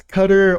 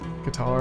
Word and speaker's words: Qatar: next one guys is cutter or Qatar however you want to pronounce that pretty sure it's Qatar a lot of people